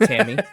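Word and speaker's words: T.A.M.I.: Yeah, I suppose it's probably pronounced Tammy, but it's spelled TAMI.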